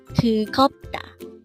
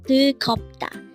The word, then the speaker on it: 뜨겁다: 뜨겁다. Again, it's 뜨겁다. This pronounces a three-syllable word. The first syllable is 뜨, second syllable is kop, and third syllable is da. Pronounce it with me. 뜨겁다.